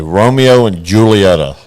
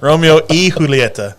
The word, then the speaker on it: Romeo y Julieta: That's not how I would pronounce that name. I would say Romeo and Julieta. Like I'm a Shakespeare guy. Well, yeah, but it's also Spanish, so that Y stands for E, sir.